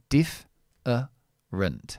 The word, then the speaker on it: different: word here phonetically um here we stress the word at the beginning. Diff uh rent, okay? So this is my um stressed syllable at the beginning, and this is the unstressed syllable after the stressed syllable.